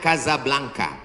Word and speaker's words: Casablanca: Hasan dua di Kota Kasablanka Hai ibukota Maroko tempat saya kuliah nama negaranya Maroko ibukotanya tulisannya Casablanca cara bacanya Kadzab langka Kaza artinya rumah Blanca